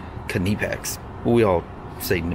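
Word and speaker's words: Knipex: nipix german it's kindepex if you're speaking to a german person you better call that kinnipex that's all i gotta say they don't they're don't they're not very happy when you mispronounce a very proudful company it's called kunipex we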